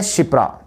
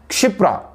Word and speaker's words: क्षिप्रा: ये सिवान और ये शिप्रा, दरअसल ये सही उच्चारण नहीं है शिप्रा, शिप्रा को ऐसे लिखते हैं क्षिप्रा, ये सही नहीं है, ये शिप्रा सही नहीं है, सही क्या होता है उच्चारण, क्षिप्रा।